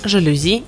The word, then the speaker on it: жалюзи: Место ударения также зависит от происхождения слова. Многие заимствованы из других языков, большинство из французского, и ударение сохраняют на последнем слоге – диспансер, жалюзи и прочие.